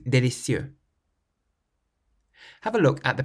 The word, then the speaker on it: délicieux: When you pronounce them, make sure you emphasize the final syllable. In English, we say perfect and delicious. In French, you say parfait and délicieux.